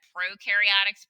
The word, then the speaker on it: prokaryotic: eukaryotic cells is that prokaryotics pro rhymes with no prokaryotics no nucleus eukaryotics you rhymes with